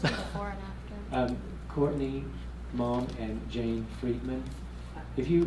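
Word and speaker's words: Maum: but it's by Courtney Malm. I think like, it's not the way Somerset Maugham's last name is spelled, maybe M-A-U-M, but Courtney Malm.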